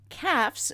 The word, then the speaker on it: Caph: Here are those stars: Shedar, that's spelled Schedar, Caphs, that's spelled Caph, Gamma Cassiopeiae, Rukba, and Segin.